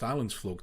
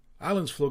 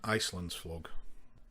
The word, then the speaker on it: Islandsflug: Even now, 16 years later, I can't remember if it's pronounced Islandsflug or Islandsflug. The most common mispronunciations I heard back then was Islandsflug, Islandsflug and Icelandsflug.